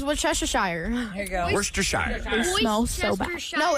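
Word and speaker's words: Worcestershire: And the the sauce name is worester. No, it's Wesshire.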